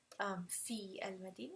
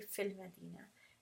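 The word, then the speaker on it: فِي الْمَدِينَةِ: see fee and Medina you're just when you're pronouncing you're not gonna say fee and Medina say fill Medina and then with this one I'm quite sure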